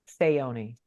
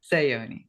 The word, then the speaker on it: Saoni: So, how do you pronounce that? Saoni. Saoni.